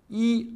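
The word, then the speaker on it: 一: I se prononce généralement au premier ton, mais dans certains cas, on le lit au deuxième, voire quatrième ton, et quelquefois même au ton neutre.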